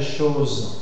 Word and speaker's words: chose: Dans le cas des choses, c'est parce que la lettre O est suivie de z son sonore. Z dans ce cas, il y a la tendance à fermer la prononciation de haut.